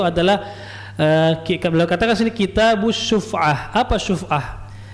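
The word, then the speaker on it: شفعة: Itu adalah beliau katakan sini kitabus syuf'ah. Apa syuf'ah? Syuf'ah itu shin, fa, ain dan ta marbutoh. Jadi bacanya syuf'ah, syuf'atun.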